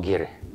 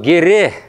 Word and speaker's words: геры: Вот слово «геры». Видите, да? Написано вот так, три буквы. Произносится вот «гере». «Гере», а не «гер».